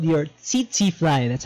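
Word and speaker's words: tsetse: the vector for African trypanosomiasis is called your CT flyer that's how you pronounce it it's a TT fly and you get the disease by the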